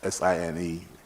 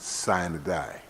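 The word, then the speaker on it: sine die: we've also we've always heard of the word s-i-n-e-d-i-e and we pronounce it sign die i will take a page from the speaker's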